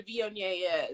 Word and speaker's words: Viognier: But not everybody knows what a Viognier is, right?